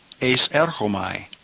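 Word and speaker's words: εἰσέρχομαι: It's a combination of the preposition ace and the word erchomai, pronounced ace erchomai.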